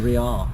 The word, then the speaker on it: Real: Well, it's actually Real.